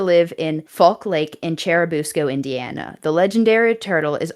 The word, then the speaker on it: Churubusco: So if I say it wrong, I'm sorry, but it is Cherabusco. That is the correct pronunciation.